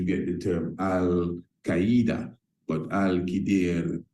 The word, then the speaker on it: Al-Khidr: the term Al-Qaeda, but Al-Khidr, those who are what you would consider to be fundamentalists, will tell you that is the proper pronunciation.